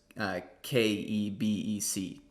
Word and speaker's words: Kebec: Yeah, so Quebec is initially came from the Algonquin, and the name is Quebec, but spelled with a K, so it's Kebec, like Quebec.